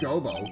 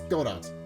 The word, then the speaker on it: Godot: then uh prosecutor gobo it's not gobo it's godot your honor any case please give your oh go goto okay so that's how it's pronounced in any case bruce